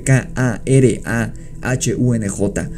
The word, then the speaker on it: Karahunj: Si nos fijamos en cómo se interpreta la palabra Karahun, que se escribe K-A-R-A-H-U-N-J, o Karahunj, que es como el anglicismo de la palabra, entenderemos que se deriva